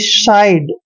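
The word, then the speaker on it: side: श पढ़ते हैं और आई डी ई का उच्चारण हमने आइड करना है यानी कि साइड ठीक है ना साइड मतलब एक तरफ हो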